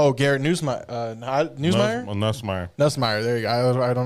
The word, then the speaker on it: Nussmeier: Nussmeier, there you go.